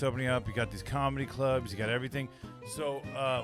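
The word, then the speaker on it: Kum: There's one called the Come and Go. Have you heard about that? Yeah, it's a gas station and it Come and Go. But it's spelled K-U-M.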